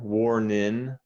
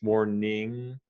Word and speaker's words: warning: word war nin okay there is an extra sound that the g makes war ning and and actually it changes the vowel sound too or all right without the g it would be war nin in what the g it's warning warning two warning one name